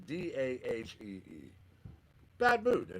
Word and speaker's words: Dahi: Ian Cash, R&B and Soul, featuring Dahi, I believe is how it's pronounced. It's Dahee.